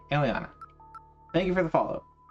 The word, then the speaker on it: Aliana: Is it Alina or Aliana? I feel like I've heard Foxy pronounce it Aliana. Second one. Okay, Aliana.